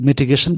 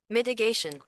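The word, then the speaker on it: mitigation: इस मिटिगेशन का बस ऐसे मतलब होता है एलिविएशन, मतलब कमी करना। अब देखिए ये क्या है, मिटिगेशन अमेरिकन प्रोनाउंसिएशन है।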